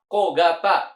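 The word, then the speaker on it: 小型: Cara baca kanji cisai itu ada banyak macam. Yang mana jawabannya menurut kalian? Oke, yang betul adalah kogata.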